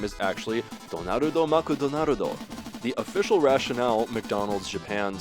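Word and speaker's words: ドナルド・マクドナルド: in Japan, the magical clown's name is actually Donarudo Makudonarudo. The official rationale McDonald's Japan cites is the relative ease of pronunciation, but I think that's odd considering do and do are entirely distinct sounds in Japanese.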